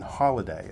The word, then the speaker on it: Holladay: that you were, I think, born and raised in Holladay, if I'm Yes.